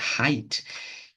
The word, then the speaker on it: height: E aí ela falou pra mim: não, mas não é assim que pronuncia. É assim, ó. É height. E aí eu.